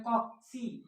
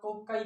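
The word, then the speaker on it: cocci: सबसे पहला जो शेप है वो है कॉक्सी या कोकाई बैक्टीरिया भी कहते हैं या कॉक्सी कहते हैं। ओके, जो आपको सही लगे आप उसको प्रोनाउंस करें, उससे कोई फर्क नहीं पड़ता, बट कॉक्सी।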